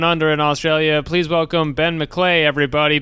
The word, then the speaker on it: Ben McLeay: Please welcome Ben McClay, everybody. Ben McClay. And that and his name rhymes with G'day.